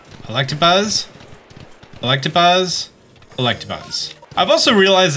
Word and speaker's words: Electabuzz: Electabuzz. Electabuzz. Electabuzz. I've also realized that I've always pronounced it Electrovire my entire life.